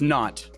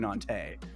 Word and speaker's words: Nantes: I think I've been saying it wrong. Still, looks like someone was laughing at the way I said it in chat. So I think it's just Nantes. I was saying Nantes. All right, Nantes.